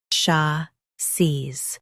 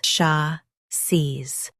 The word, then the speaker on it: chassis: Chassis. Both US and UK have the same pronunciation of this word. Stress sha. Keep seez smooth and clear. Sha. Seez. Chassis. Stress sha. Keep seez smooth and clear.